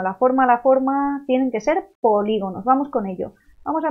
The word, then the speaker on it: polígonos: Vamos a ver los polígonos. Polígonos. Veo aquí una tilde, porque esta palabra es esdrújula. Lleva acento en la antepenúltima sílaba. Por lo tanto, siempre lleva tilde.